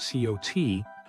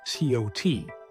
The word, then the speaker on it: CoT: called Chain of Thought Co on top of their existing llms such as GPT 4 for starters you may want to be familiar with the term coot some people pronounce it co it involves breaking down